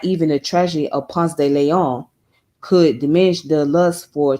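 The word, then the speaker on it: Ponce de León: Now, here where I'm at, there's a street called Ponce de Leon. Well, we say Ponce de Leon. That's how we pronounce it. We say Ponce de Leon, but it's actually pronounced as Ponce de Leon.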